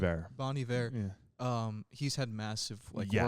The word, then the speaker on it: Bon Iver: Bon Iver.